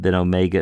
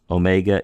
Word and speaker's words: omega: of your mouth there, and then omega is pronounced like a long O. That's our final vowel there, like O. The difference, see, aw, omicron is aw, omega is O.